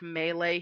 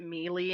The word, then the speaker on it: melee: a friend who um every time he says the word melee he pronounces it Meely and I just I